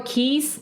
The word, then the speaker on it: Keyes: His last name, Keys, it's spelled Keyes.